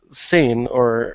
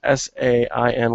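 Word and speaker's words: Sein: in the jungle, while Sain, and I hope I'm saying that right, it's S-E-I-N, and the pronunciation is S-A-I-N, where it's like Bane. So I'm saying Sain.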